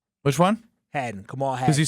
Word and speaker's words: Kamal Hadden: Kamal Hadden. Which one? Kamal Hadden.